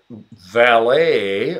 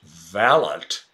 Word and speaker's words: valet: water knob to adjust flow oh oh servant valet okay in Britain pronounced valent okay but here in America valet and valve